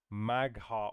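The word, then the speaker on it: Mag'har: Magha Orc.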